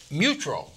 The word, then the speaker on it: Mutrux: Now, we turn to Mutrux. That's right. I pronounced it right.